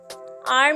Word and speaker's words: hour: अब हम आते हैं सेकंड वर्ड पे, R मीन्स घंटा। और तो HOUR, इसके अंदर कौन सा वर्ड साइलेंट है? H।